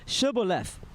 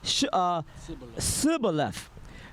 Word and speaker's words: Shibboleth: If he said, Nay, then they said unto him, Say now Shibboleth. And he said, Sibboleth, for he could not frame to pronounce it right.